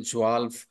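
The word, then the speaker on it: zwölf: को जर्मन में जल्प कहा जाता है दोस्तों जवाल 12 को जर्मन में जवाल कहा जाता है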